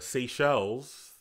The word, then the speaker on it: Seychelles: And then, the Seychelles. Seychelles. Yeah, I think that's how you pronounce it.